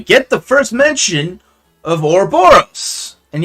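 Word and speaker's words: Ouroboros: the first mention of orboros and yes I'm pronouncing it this way because the game pronounces it this way I know that you prefer it a robberists but like again it's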